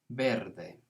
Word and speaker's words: verde: clear pattern color is verde so remember that that v is a kind of b sound el pasto es verde